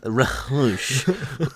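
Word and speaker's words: Ra's: you know be like actually it's Rush shut up uh the H is not silent yeah if you understand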